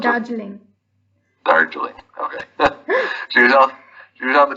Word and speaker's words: Darjeeling: Well, she was on the train to Darlingen. Is that how you pronounce Darjeeling. it? Darjeeling.